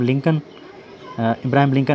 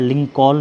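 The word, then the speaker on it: Lincoln: इब्राहिम होता है इब्राहिम लिंकन ये जिसके एल है लिंक कॉल नहीं पढ़ेंगे लिंकन एल साइलेंट है अगर हम लिंकन हज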